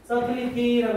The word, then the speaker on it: subtlety: subtlety라고 하면 이거 B가 묵음이죠. 원래는 subtle에서 나오는 단어예요.